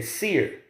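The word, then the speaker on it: שעיר: you that is Esau the word in the Hebrew is pronounced or how they would say Seer you know what I'm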